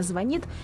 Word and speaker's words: звонит: Например, ошибочно звонит вместо правильного звонит или свекла вместо свекла.